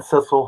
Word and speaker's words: Cissel: or am i saying it correctly correct maxine cecil horner yes she was this is she's the